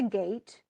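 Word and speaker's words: Geat: he's a he is a gate it's spelled g-e-a-t but he is a gate and he has been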